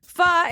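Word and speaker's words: phở: a traditional soup from which Asian country Japan fa is from Vietnam it's from Vietnam that's what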